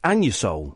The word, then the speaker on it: Anusol: It's pronounced Anusol.